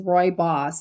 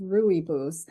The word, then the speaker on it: rooibos: them pronounce it as Roy boss and I heard you pronounce it in another video you said it's like Roy is your boss exactly yeah because before